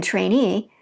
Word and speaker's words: trainee: In trainee, you'll notice that the stress is at the very last when we added EE.